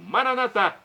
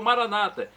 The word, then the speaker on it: Maranata: e agora do aramaico Eu Clamo maranat como dizemos nós católicos ou Maranata como dizem nossos irmãos separados os evangélicos ou protestantes não importa a pronúncia o significado é o mesmo vinde Senhor Jesus